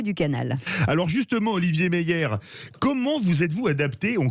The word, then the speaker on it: Meier: Eh bien, on en parle ce matin avec Olivier Meillet. Est-ce que je prononce bien ? Pas tout à fait, c'est Olivier Meyer. Meyer.